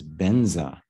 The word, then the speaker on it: Vajra: you see this word Vajra. Okay, the Tibetans pronounce that as benza. So sometimes, when you hear, like for example, in the Vajrasattva mantra, instead of Om Vajrasattva, they'll say Om Benza Sato.